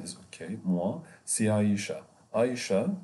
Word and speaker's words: Aïcha: Aïcha, it's the pronunciation of the French language. A-I, here Aïcha, but in Arabic we say Aïcha or Aïcha.